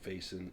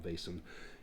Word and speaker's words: Vaesen: And I've heard it pronounced Vasen, Vasen, Vesen, Vasen. I'm just going to call them Vaesen.